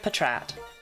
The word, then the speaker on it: Patrat: Pronounce it as Pat Rat, but it is pronounced Patrat, so you know.